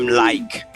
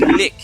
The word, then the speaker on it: like: Mais si je retire C, à mettre E, on va dire like. Parce que E muet, obligé de dire like. Là, il y a deux consonnes, on dit lick.